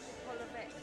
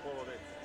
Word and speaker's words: Polovets: So, the Polovech. The Polovets. I would say vets.